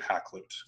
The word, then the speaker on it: Hakluyt: to a man named Richard Hakluyt which is how you pronounce this name and again like I